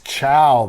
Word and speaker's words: ciao: that's the word but it's hard to understand how you'd say that word is it c-i-a-o c-a-o no it's chow that's how it said so it's more like